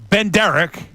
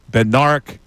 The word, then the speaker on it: Bednarik: Only our good friend Chuck Benderek. All right, for those who maybe don't tune in, this is a running joke that I say his name wrong. We know it's Bendarek.